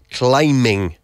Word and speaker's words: climbing: Ojo con el verbo to climb, que se escribe C-L-I-M-B, but the B is silent, all right? So we say climbing rope.